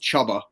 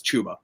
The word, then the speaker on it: Chuba: was finding out that his name was not pronounced chubba because when i first saw the name and